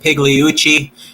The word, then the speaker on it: Pigliucci: And the name is pronounced Pigliucci.